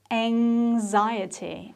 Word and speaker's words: anxiety: or on a yacht the next word is quite tricky too because of the x in there how would you say this it's anxiety anxiety there is a nasal sound which makes the pronunciation quite difficult so let's try it